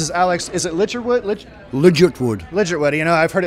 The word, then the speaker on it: Ligertwood: Ligertwood. Ligertwood, you know, I've heard it pronounced about 6 different ways.